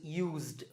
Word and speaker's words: used: you a clue, because when we say the word use as a verb, it's use, use. This s becomes z, so use. The past tense form is used, used, d.